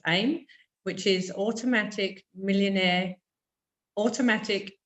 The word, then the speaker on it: AIM: so he has a business called aim or pronounce aim which is automatic millionaire automatic Internet Millionaire so